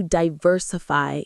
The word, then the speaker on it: diversify: You'll want to diversify your investments. Let's pronounce that. Diversify. The stress is on the ver.